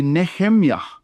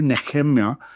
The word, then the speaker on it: Nehemiah: word or the the book and the name Nehemiah, uh in Hebrew, it's actually Nehemiah is how you would pronounce the name Nehemiah in Hebrew Hebrew. Nehemiah.